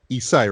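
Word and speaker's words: Esai: I really dug Isai, right? That's how you pronounce his name.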